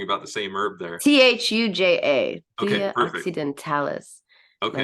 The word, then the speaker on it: Thuja: Now, Thuya, And so, you're pronouncing the J as if it's Spanish. It is a J, right? Like Thuja. Thuja, you want to say Thuja, like Thu Jones or something like I that.